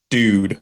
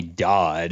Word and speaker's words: Dodd: was William Gaines and Stephen dude or Dodd it's definitely Dodd I don't know who taught me uh television it's d-o-d-d why would that be